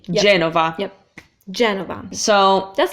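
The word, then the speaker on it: Genova: you're pretty much good yep next one is Jenova Chen about you want the accent on the e je Nova yep Jennifer so that's not a hard one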